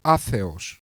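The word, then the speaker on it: ἄθεος: In reality, of course, the true pronunciation of atheism is atheos, the Greek one.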